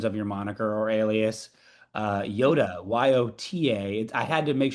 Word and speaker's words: Yota: Also, phonetically, it's the same, Yota.